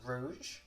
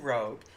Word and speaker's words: rouge: do blush, which I'm pretty sure Robert calls rouge, but it is spelled rogue, and knowing me, I would probably pronounce it rogue. So I'm going to get some rogue, and I'm going to get this.